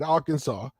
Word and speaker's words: Arkansas: say you you you still say it right Arkansas but you know Arkansas people from Arkansas don't